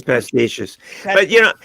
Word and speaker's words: pastiche: They now come and denounce him for everything, yet still continue to write pastiches, if that's the correct pronunciation, of his work. Pastiche. It's pastiches.